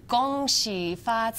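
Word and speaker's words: 恭喜发财: in Chinese Happy New Year in Chinese is gong she fats hi yeah that's it yes she fought a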